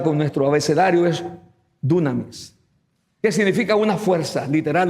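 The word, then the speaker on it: δύναμις: transliteración de esta palabra poder del griego y pronunciada con nuestro abecedario es dunamis Qué significa una fuerza literal o figurada específicamente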